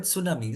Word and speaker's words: tsunami: For say, if we write tsunami, it's the word tsunami starts with T, not with S, but the pronunciation is S.